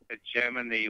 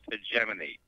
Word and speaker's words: hegemony: Doug, on the show earlier tonight, you were talking about hegemony, which means control. I Yes. thought I would tell you is the word is pronounced hegemony, just so you don't sound like an idiot, you know.